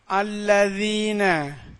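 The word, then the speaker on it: الَّذِينَ: அலிஃப் கருத்தெல்லாம் வந்திருக்கிறதுனால அலிஃப்க்கு ஜபர் போட்டு அல்லதீன அல்லதீனன்னு ஓதணும்.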